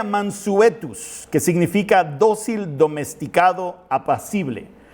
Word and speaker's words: mansuetus: Manso se deriva de la palabra latina que se pronuncia mansuetus, que significa dócil, domesticado, apacible.